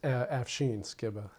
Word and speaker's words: Afshin Skibba: Did I pronounce that wrong? Yeah, it's Afshin Skibba.